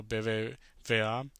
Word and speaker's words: BBVA: And then we have Monterrey in Mexico at the Estadio BBVA. I think that's how you say it. I think, yeah, V de Vaca. That's how we say it in Spanish.